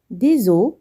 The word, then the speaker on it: os: Un os, des os. On ne prononce pas les consonnes finales.